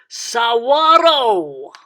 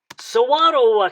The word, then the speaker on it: saguaro: speaking people here do in spanish the ah has an a w an ah sound uh and and the g has not a g sound but a wah sound so uh uh and don't forget to roll the r at the end so you would say saguaro saguaro cactus become more noticeably and